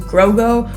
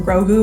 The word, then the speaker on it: Grogu: at the pronunciation because I wasn't sure if it was Grogo or Krogo or Grogu or Krogu, because it kind of sounded like they were pronouncing it a little bit different each time. But I did look that part up. It looks like it's Grogu.